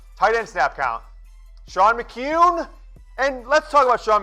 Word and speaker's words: McKeon: his name three separate ways Jim Harbaugh is pronounced incorrectly it's kyun McCune not McKeon not Miki in not McKeon Shawn McCune so Jim Branstetter the people will get paid